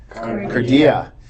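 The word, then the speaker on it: καρδία: Everybody say cardia. And Ben, spell it for us.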